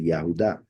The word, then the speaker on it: Yahuda: came from yahuda right they changed it not to pronounce yahu but the actual pronunciation would be yahuda and that is the